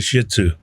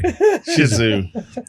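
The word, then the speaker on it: Shih Tzu: dog yeah was a shih TSU I mean the whole I hope I didn't just get us kicked off of Shizu I'm sorry Shizu is the correct pronunciation God bless you I'm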